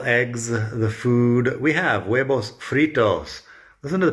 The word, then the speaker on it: huevos: We have huevos fritos. Listen to the pronunciation of huevos. The H is silent and the V sounds like a B most of the time.